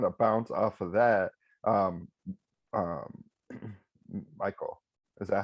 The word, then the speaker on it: Paul-Mikél: And then to kind of bounce off of that, Michael. Is that how it's pronounced, Michael? Yeah, Paul. Okay. Well, but I don't even know myself at this point. Is it Paul-Mikél? Yeah, Paul-Mikél.